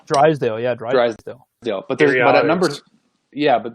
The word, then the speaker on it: Drysdale: I might be saying his name wrong. Drysdale.